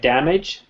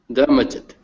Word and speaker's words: damaged: Damaged. Damaged. Yeah, better. There's no, you don't pronounce the E.